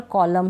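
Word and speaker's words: column: अब यहाँ पर कॉलम है, एन नहीं पढ़ा जा रहा, सॉलम है, एन नहीं पढ़ा जा रहा, डैम है, इसमें भी एन नहीं पढ़ा जा रहा।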